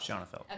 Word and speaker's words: Shanafelt: Shanafelt. Okay, Yeah. to have, I Yeah. know everybody pronounces Yep.